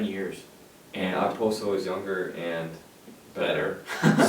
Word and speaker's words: Okposo: And our favorite signing, as you might figure, is Kyle Okposo to the Buffalo Sabres, or Kyle Oposo, I think is Okposo. technically how it's pronounced.